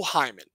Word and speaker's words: Hyman: This is, to be fair, this is spelled H-Y-M-A-N. It is Flo just Hyman. Just like Hyman.